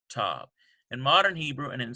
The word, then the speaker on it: tav: of a harder t, tav. In modern Hebrew and in some university seminaries, both the one with the dagesh, tav, and tav are pronounced like t.